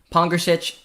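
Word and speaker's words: Pongračić: against larry kuzin and that's absolutely massive um pong gretchich was fantastic i think i learned how to pronounce his name finally luca so big shout out to myself pongersich did do very well he did i think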